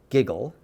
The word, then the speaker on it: WGJL: to you live from station wgjl pronounced giggle which stands for wow